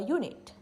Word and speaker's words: unit: consonant a unicorn a unit in these two words unit and unicorn even if the starting letter is a vowel its pronunciation comes off like it starts with a consonant for words like bag